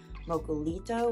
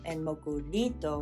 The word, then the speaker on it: Mokulito: you've probably noticed that there are two ways to spell it localito with an l and moku Nito with an R so this is just due to the phonetics of English in Japanese so the West has adapted mocolito because the Japanese